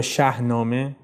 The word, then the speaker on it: Shahnameh: to discuss it, it's that Ferdowsi explains that Shāhnāmeh or Shahnāmeh or by some accounts, Khodāynāmeh, how it came